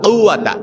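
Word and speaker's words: قُوَّة: লা হাওলা ওয়ালা কুওয়াতা, এই যে কফ, এটা কিন্তু কফ, ওই যে মধ্যখান বেজানওয়ালা যে কাফ আছে ওই কাফ না, কিন্তু লা হাওলা ওয়ালা কুওয়াতা, এই কফটা আপনাকে ভালো করে উচ্চারণ করতে হবে।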